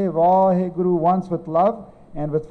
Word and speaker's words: Vaheguru: And some people, they take a little pause between Vahe, they go Vah, Guru. I personally think it doesn't matter how you say it.